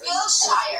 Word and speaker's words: Wilshire: It's Wilshire. And when I'm trying to order pizza, it's like nobody knows. His victims, the other. And I say it's between Sunset and Santa Monica. They're like, you mean Wilshire?